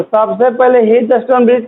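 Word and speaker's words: Wheatstone: आधा व को साइलेंट पड़ जाता, ठीक ना। हीटस्टोन ब्रिज कहते हैं।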